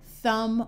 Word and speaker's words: thumb: in man and map if you have an M followed by a b the B is often silent like in comb thumb or crumb however if you